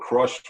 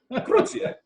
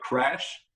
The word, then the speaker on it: Cruzh: And biggest mistake of our lives, obviously, because people have a really hard time pronouncing it. When we played a Frontiers Rock Festival in Milan, you know, the Italians, they call us Cruzh. Cruzh, and I mean, people call us Cruzh, Crash.